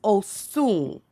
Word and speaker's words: Osun: the because we don't get a lot of the African pronunciation. They Hmm. spell it almost the same, but it's Osun.